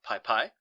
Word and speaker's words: PyPI: They package these modules and upload it to a central repository called PyPy. That's spelled PYPI.